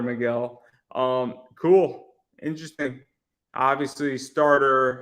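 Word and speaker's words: Megill: saturated less of Tyler McGill um spelled like Taylor McGill but it's Tyler Miguel um cool interesting obviously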